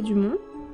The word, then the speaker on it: Dumont: Professeur Lucas Dumont. Je le prononce à la française.